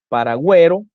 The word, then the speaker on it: paragüero: Cuando la U debe ser pronunciada en las sílabas we, wi, por ejemplo, tenemos pingüino, paragüero, guiro, lengüetazo, lingüística, monolingüe,